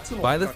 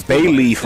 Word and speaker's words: Byleth: one of 3 academic Byleth, that's how you pronounce it. I was saying the name wrong. I said like Bayleaf or something like that, so it's Byleth.